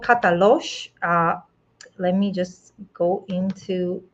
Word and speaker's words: Katalox: new project is called Katalox let me just go into opening the brochure hopefully you can see my screen so katalosh my friends it's spelled with the next at the end it is the name